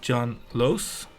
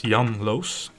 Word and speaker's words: Jan Loos: And my name there is my name, Jan Loos. Well, I'm pronouncing in English now. It's Jan Loos in Dutch.